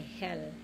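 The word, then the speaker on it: Hölle: Ang spelling po ay H-O-E-L-L-E, no? Ang pronunciation po ay Hell.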